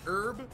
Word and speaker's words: herb: Do you know Ryan, it's pronounced herb, not herb, the H is Ryan?